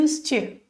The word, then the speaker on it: used to: Ele é bem suave no final. I used to. E aí já junta com o to. I used to. Nem pronuncia o D.